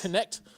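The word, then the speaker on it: Knecht: with um dton dton it pronounced connect dton connect uh was their first round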